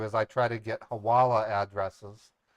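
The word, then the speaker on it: hawala: I try to get haala addresses haala addresses are businesses that lend themselves to money laundering through an a network known as haala that's pronounced hawaa it's an ancient form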